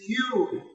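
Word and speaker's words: ewe: E-W-E. Pronunciation is U. It is a homophone with Y-O-U.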